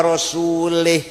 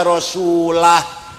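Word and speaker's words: وَرَسُولُهُ: Ono wong maca Quran salah. Wa annallaha bari'um minal musyrikin wa rasulih. Allah orang melindungi, tidak melindungi orang musyrik dan tidak melindungi Rasulnya, Rasulullah. Salah. Yang benar bacanya wa annallaha bari'um minal musyrikin wa rasulah.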